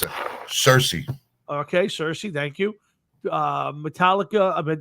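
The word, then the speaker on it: Cirice: Cerise, how do you pronounce it? Cersei.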